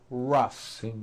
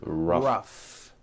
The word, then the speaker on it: rough: and the last word roughs notice the g h combination in that word rough rough let's work on